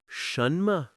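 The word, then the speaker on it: 什么: Now try shunma which means what the first syllable uses the second tone shun. Notice how it rises but it doesn't become high and harsh.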